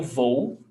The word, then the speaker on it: vou: Então, eu vou, and attention to pronunciation. Here, we've got two vowel sounds. O, U, O, O. It's not eu vou. Eu vou. Two vowel sounds, okay?